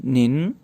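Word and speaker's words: 您: है उसके लिए जो चाइनीज़ है वो है निन। टीचर को हमने प्रोनाउंस किया लाओ शेर, लाओ शेर।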